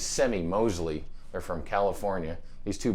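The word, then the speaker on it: Semie Moseley: guitar builders andy and i believe you say his name's semi mosley they're from california these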